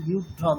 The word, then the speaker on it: व्यूढं: আচ্ছা সুনীতি রঞ্জন মাঝি বলুন, হ্যাঁ স্যার বলছি, দৃष्ट्वा तु पाण्डवानीकं युद्धं दुर्योधनस्तदा, ওটা কি সব প্রত্যেকে উচ্চারণ করছেন বিউঢম, ওরকম না, युद्धं বিউঢম, বিউঢম, বিউঢম, युद्धं, আচ্ছা